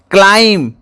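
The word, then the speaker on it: climb: बी हूँ silent letter सेपरी क्लाइम अर्थ चढ़ा एठारे बीर उच्चारण नहीं बी हूँ साइलेंट लेटर थ्रो एठारे साइलेंट लेटर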